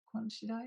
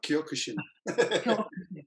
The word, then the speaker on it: Kyokushin: Was it Quan Chi Do? No, Kyokushin. Sorry, Kyokushin.